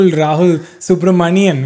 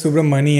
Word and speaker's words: Subramanian: you kenny for saying kenny is one of the few people who like pronounces my last name because for the longest time i thought it was super money m and then i realized it was n and then i was pretty